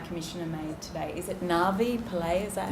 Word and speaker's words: Navi Pillay: Is it Navi Pillay? Is that how I pronounce it?